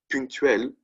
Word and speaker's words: ponctuel: Punctuel, but it's pronounced the same, right?